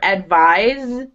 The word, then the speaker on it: advise: The the verb advise, it sounds like a zed. It's a z sound, not a s sound.